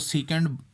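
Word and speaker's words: sec: इसको सीकेंट pronounce करेंगे लेकिन सेक लिखेंगे, इस तरह से।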